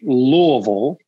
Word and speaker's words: Louisville: So it's actually Louisville. So like, well, I said it wrong even trying to say it right. So it's L-U-H-L, Vol, V-U-H-L, Louisville. Ville.